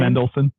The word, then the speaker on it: Mendelsohn: I don't disagree with you, but Ben, is it Mendel? How do you say his name? Mendelsohn.